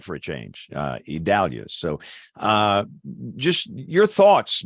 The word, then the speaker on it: Idalia: hurricane expert here yeah it's a Portuguese pronunciation it's idalia there you go so Jen we that that's what I I actually got one right for a change uh idalia so uh just your